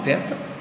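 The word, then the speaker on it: θῆτα: em português do nome teta e o som que corresponde a um th é uma letra dupla portanto mas não diria dupla mas é um t aspirado um t soprado um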